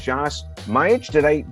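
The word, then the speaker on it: Josipa Majić: Joining me today is JOSIPA MAJIC. Did I pronounce that correctly? You did.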